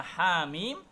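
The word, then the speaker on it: حم: Dan yang terakhir untuk qiraatnya Imam Hamzah juga membaca hamim dengan imalah kubro menjadi hemim.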